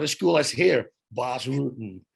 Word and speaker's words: Bas Rutten: It's the same with Bas Rutten. That's official. That's how you pronounce it. It doesn't sound as cool as here. Bas Rutten.